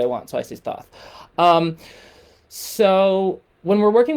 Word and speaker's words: Thoth: it's pronounced tahuti or taut that's the academic way to pronounce it but i just do what i want so i see thoth um so when we're